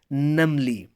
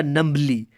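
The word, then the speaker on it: numbly: चलें उसके बाद देखें जी, she walked in टू the kitchen नमली। इसको ज़रा गौर कीजिएगा, प्रोनाउंसिएशन है बेटा नमली, नॉट अ नम्बली।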